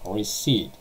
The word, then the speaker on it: receipt: Receipt. So pay attention to the pronunciation. Receipt. It's not receipt without P.